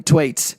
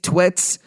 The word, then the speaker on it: Thwaites: Basically, it stars Brendan Thwaites. Now, am I saying that correctly? I always mess that up. I say Thwaites, Twits.